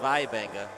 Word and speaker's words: Waibenga: That's Nolan well, it's written Waibenga, but I have a feeling it's pronounced Vaibenga.